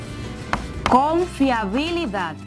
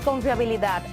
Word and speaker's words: confiabilidad: pronuncia la otra vez cuando tú pronuncias con fiabilidad donde sientes que hay una mayor entonación dónde está dónde escuchar a 7s a esa mayor fuerza puso en la última silla muy bien en